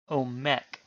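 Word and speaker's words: עומק: And because no stress is marked, we put the stress on the final syllable, omek.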